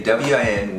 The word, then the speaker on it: Nguyen: Nguyen. I hate that. Okay, the N is silent, okay? You cannot do it to say W-I-N, Win, or W-H-E-N, Win.